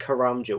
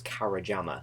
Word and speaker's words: Karamja: I it was like I used to think karamja was kajama because I couldn't read it properly I was like oh